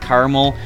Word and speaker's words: caramel: you prefer it but prefer to pronounce it caramel which I don't get because there's a second a in there's in there caramel but